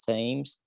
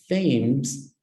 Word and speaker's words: Thames: the river the rivers times flows throw London excellent please listen to my pronunciation David the River Thames flows through London okay and then we